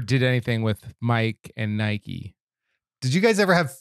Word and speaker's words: Nike: letter to n and it's Nike but it's not an English word it's a Greek word I'm just saying I